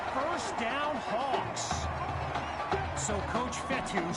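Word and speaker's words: Fetu: down hawks so coach fetthy spelled f-e-t-u for the longest time i was pronouncing it coach feta like feta cheese so let's just say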